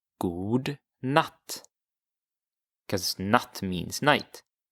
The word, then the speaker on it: god: But to say good, you would say god, god. So it's spelled with one O. And in Swedish, you pronounce that god.